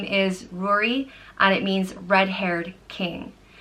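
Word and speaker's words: Ruairí: it also can be pronounced grew REE Rory like brewery but without the B or Rory and like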